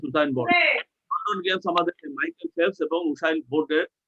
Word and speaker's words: Michael Phelps: উচ্চারণটা কি? মাইকেল Michael Phelps. মাইকেল ফেলপস, তারা এই উসাইন বোল্ট এবং মাইকেল ফেলপস মেক